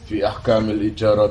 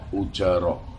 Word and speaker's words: ijarah: Istilah "ijarah," dengan kasrah pada huruf "hamzah," adalah pengucapan yang paling umum dikenal. Ada yang mengatakan bahwa pengucapan dengan kasrah pada hamzah adalah yang paling terkenal. Riwayat ini juga disertai dengan dammah, "ujarah."